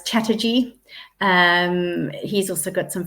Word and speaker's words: Chatterjee: much I've been talking too much I'm can't pronounce words now it's Chatterjee um he's also got some fantastic podcasts if